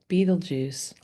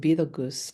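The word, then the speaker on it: Betelgeuse: astronomers that they're expecting the supernova, Beetlejuice, also pronounced Beetle Goose, Beetlegeist, right? It's um but like the movie.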